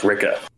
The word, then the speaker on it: Rikke: I think technically her name is pronounced Ricka.